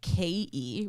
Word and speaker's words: ke: then then is que so ke which we pronounce like gay um that's like an